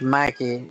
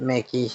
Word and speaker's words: Mikey: It's Mikey, not Mickey, ma'am.